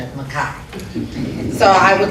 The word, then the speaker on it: Mchie: My new understanding is the correct pronunciation of Mchie.